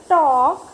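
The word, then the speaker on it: talk: Look at the word टॉक here, L is silent, जब हम टॉक, PAL के टॉक इसको रीड करेंगे ना, तो जो L है ना वो साइलेंट लेटर है, तो L का प्रोनाउंसिएशन हम नहीं करेंगे, है ना, टॉक नहीं बोलते, क्या बोलते हैं, टॉक। Okay so L is silent letter.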